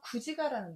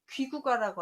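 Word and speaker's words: 龜旨歌: 6개의 가약이 됐다는 전설에서 구지가라는 노래가 있거든요. 그때는 귀구가라고 안 하고 구지가라고 읽어요.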